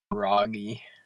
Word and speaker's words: Raggy: Why is uh is uh is it should I say Ry or Raggi? Cuz I don't want to say it wrong. Raggy. Raggy. Okay.